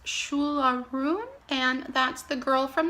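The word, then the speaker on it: Siúil a Rún: I believe this is after a Gaelic song, and I believe it's pronounced Shularoon, and that's The Girl from the Other Side.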